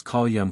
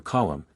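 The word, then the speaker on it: column: speakers that we hear such slovenly articulations as Callum for colum and pretty for pretty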